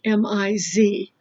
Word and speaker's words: Ms: service is Ms Watkins so ms is pronounced ms sounds like mi z ms watkins what are